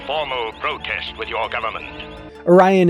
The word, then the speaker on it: Orion: protest with your government Orion is repeatedly and inexplicably pronounced oron in that episode and Doos finally gives us a Canon explanation that's just how this particular Clan pronounces it I also loved the